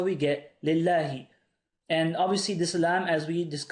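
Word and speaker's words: لله: Now, how do I know to read this lillahi? Well, the original word is spelt like this, Allah. Now, what I could do, if I wanted to add a lam, I'd write it like this. But you don't need to do that. Why? Because there's already a lam here. And this lam is silent in the actual word. This lam is a silent lam here.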